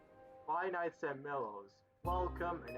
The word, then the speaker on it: Milo's: Although it's pronounced Milo's.